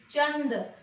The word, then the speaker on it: चंद: अनुस्वार जो है उसका उच्चारण हम च के बाद करते हैं, जैसे चंद।